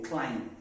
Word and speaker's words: climb: are not climbing it you cannot climb it will you climb the beat is silent and also you have